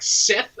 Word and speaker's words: Set: world and it's basically set is like Seth as well as another pronunciation and in the Egyptian